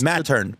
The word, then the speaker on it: Mattern: Yeah, so you say Mattern. You pronounce Mattern. Pattern with an M.